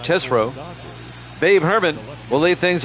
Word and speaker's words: Tesreau: Jeff Treshaw. Oh boy, how do you pronounce that? Jeff Tesreau will be the starting pitcher for the Giants. I believe that's how you pronounce that, Tesreau.